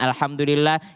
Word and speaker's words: Alhamdulillah: membacanya aja alhamdulillahirobbilalamin oke Alhamdulillah pakai huruf Alhamdulillah itu menggunakan huruf H jadi jangan baca alhamdulillah di huruf Indonesia Ha itu cuman satu